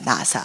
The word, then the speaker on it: NASA: 나사, 미국 우주항공, NASA, 영어 발음은 NASA입니다.